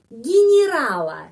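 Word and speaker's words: генерала: Tetapi kenapa huruf Y harus pengucapannya seperti I? Karena tidak mendapat penekanan. Karena itu orang Rusia mengucapkan di sini I, di sini I. Ginirala. Ginirala. Kita tidak mengucapkan generala. Kenapa? Karena ada alasan. Karena di sini penekanannya pada huruf A ini.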